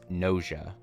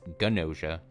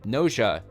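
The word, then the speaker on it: Gnosia: um and that is NOA NOA I don't think it's ganosa but it's spelled ganosa g n o s i a uh it is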